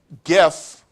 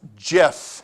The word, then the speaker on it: GIF: controversial that one is stands for graphics interchange format which is why it should be pronounced gif and not Jeff okay I know that